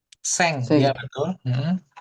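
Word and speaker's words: 千: Sen. Seng. Iya, betul. Heeh. Bacanya seng. Betul. Oke. Baik. Seng gitu ya.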